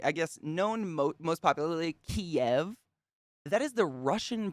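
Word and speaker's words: Kyiv: by glut yesterday but it is pronounced kiev that's the ukrainian spelling of the city which is super cool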